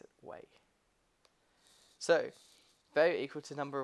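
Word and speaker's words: wei: me great way cool way that's how you pronounce it way so though equal to number of way owned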